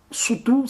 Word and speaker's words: Sotho: C'est le cas du Lesotho, et qui est majoritairement habité par un peuple qu'on appelle les Soto. Soutou, ça se prononce en langue locale.